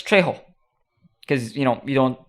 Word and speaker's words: Trejo: but turns out it's trejo because you know you don't me you don't pronounce the j's in spanish anyway i'm gonna stop